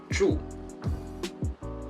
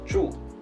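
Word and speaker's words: 住: pinging is z-h you with the fourth tone and it falls on the vowel sound here chew chew chew chew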